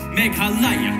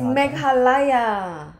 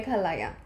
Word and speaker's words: Meghalaya: Arunachal, Assam, Manipur, Mizoram, Meghalaya, Tripura, Sikkim. It's Meghalaya. Yeah. You were saying it wrong too. I was saying it wrong. It's sorry. Meghalaya.